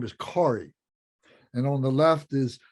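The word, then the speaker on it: Gauri: is uh he's a uh his name is corey and on the left is sorry uh g-a-u-r-i but it's pronounced sorry one of the idiosyncrasies of the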